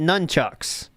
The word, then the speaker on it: nunchucks: If we're saying it how they said it in the movie, they said nunchucks. Right? That's how you're supposed to say it.